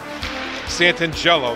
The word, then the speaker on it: Santangelo: Santangelo, that's how you pronounce it.